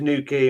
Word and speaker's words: Newquay: Yeah, by the way, Tyrone, sorry, you're going to Newquay in Wales, not Newquay in Cornwall, aren't you?